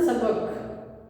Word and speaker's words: سبق: اگلا لفظ ہے سبق، سین کے اوپر زبر، پے کے اوپر زبر، کاف کے اوپر جزم، سبق.